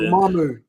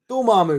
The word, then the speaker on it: Dormammu: None of them had the Umamu. Yeah. Did you say Umamu? Dormammu, that's what he says.